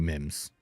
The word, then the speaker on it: Mims: Mims or memes? It's not memes. It's gotta be Mims. Somebody said memes.